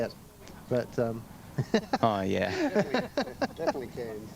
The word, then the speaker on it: Cairns: I've been plane spotting at Hobart as well when I lived there for a year, and at Perth, Mackay, Cairns, really, a lot of places.